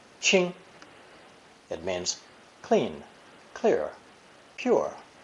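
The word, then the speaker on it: 清: with the ching phonetic also pronounced first tone ching ching it means clean clear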